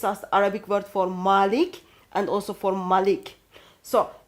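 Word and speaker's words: مالك: Malik, Yes. a long A with a dagger aleph that's added at later on. And that dagger aleph makes it owner.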